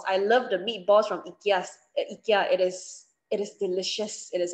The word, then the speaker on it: IKEA: so the pronunciation is not yeah it's ikea ikea it is pronounced as ikea and you can go and